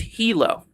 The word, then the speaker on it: Hilo: Saying it's pronounced Hilo. All good, bro. All right. Thank you. I appreciate it, friend. Jason, once again, thank you so much, dude, for the $2. It's Hilo. Okay.